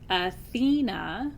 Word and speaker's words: Athena: Greek in Greek Athena Athena with the emphasis on the middle syllable is the word for